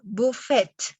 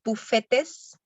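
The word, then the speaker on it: faites: es la de s perfecta pronunciación buffett la última parte no la vamos a pronunciar no decimos bufetes o bufetes sino que decimos buffet buffet y acá entonces recordemos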